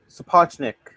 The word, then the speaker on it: Sapochnik: Michael Sapochnik, I believe that's how it's pronounced.